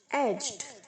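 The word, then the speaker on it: edge: देना, इकोनोमाइजेस, इकोनोमाइजिंग, एज, aged, aged, किनारा, एजिस, ageing. एज में डी साइलेंट है बच्चों।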